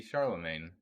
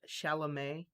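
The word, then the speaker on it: Chalamet: up you did not you butchered his name i'm sorry i just it's not even timothy he just says it's timothy because people can't pronounce his real name i remember i saw charlamay i think is what it is um yeah that was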